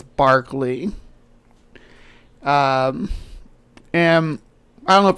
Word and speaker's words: Berkeley: I believe the proper British way to say it is Berkeley Square. It looks like it's Berkeley, but it's Berkeley.